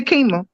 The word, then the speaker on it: Qimmah: off with a nickname no it's two syllables so you can say more than that all the names being